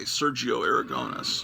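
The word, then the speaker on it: Sergio Aragonés: My wife is a native Spanish speaker, and she was trying to teach me because I was going to say Sergio Aragones, and she says, no, it's Sergio Aragones.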